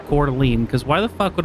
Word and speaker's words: Coeur d'Alene: guess Adam Doll is from the Idaho region, specifically Coeur d'Alene, Idaho.